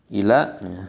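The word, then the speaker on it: إلى: Ila alif lam aja, ila nggak ada yang panjang.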